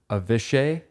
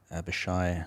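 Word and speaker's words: Avishai: to say his name avishay it's a v i s h a i have a shy avashai is that right that sounds better avashai Cohen right yep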